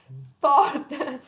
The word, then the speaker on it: sport: the sport is sport it's an italian pronunciation sport yes sport so it's